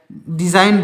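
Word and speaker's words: design: हो जाएगा सॉरी विदेशी तो इसमें भी जी साइलेंट है डिजाइन डिजाइन मीस क्या हो जाएगा डिजाइन में डिजाइन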